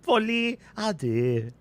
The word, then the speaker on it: Folie à deux: You have to say it like a very smug, self-righteous, but very peaceful Frenchman who is smarter than you are, right?